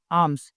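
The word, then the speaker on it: alms: मांगा करता था क्या आम्स इसको आर्म्स नहीं बोलेंगे एल साइलेंट रहेगा आर्म्स यानी भीक इन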